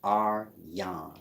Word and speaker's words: Aryan: Aryan nation is pronounced Aryan. It's spelled Aryan. Aryan. Like Aryavarta.